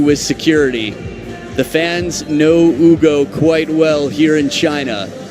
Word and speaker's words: Hugo: Spelled Hugo, pronounced Hugo.